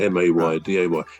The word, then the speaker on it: mayday: M A Y D A Y. It's actually from the French.